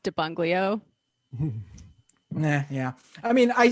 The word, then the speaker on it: de Blasio: Also, small correction, it's pronounced Debunglio. Yeah. I mean, I said it too. I when I heard Giuliani say this, I hate that I have to defend Bill de Blasio, but I can't let, credit where credit is